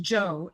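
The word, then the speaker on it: 州: Hanjo jujo and and all the cities that start with Z or that end in z houu are pronounced Joe and it means River and so there's so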